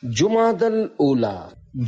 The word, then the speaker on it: جمادی الاولی: لغت کے اعتبار سے ان دونوں مہینوں کے درست نام اور صحیح تلفظ یہ ہے، جمادی الاولی، جمادی الاخری اور جمادی الاخرہ۔ پیارے پیارے اسلامی بھائیوں،